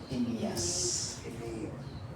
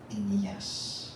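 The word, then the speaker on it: Aeneas: And as he went here and there, speak of his son, he found a man named, so pa pronounce niya na lang? Inias.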